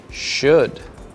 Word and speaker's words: should: Remember, O and U make the sound ow, but for these tricky words, they make the sound oo, you, and should.